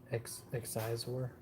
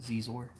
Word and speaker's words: Xizor: Prince Exizor. It's pronounced Zizor.